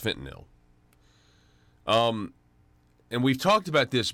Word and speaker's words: fentanyl: so much about fentanyl or some people say fit and all but I think there's an it's actually pronounced fentanyl and we've talked about this before about just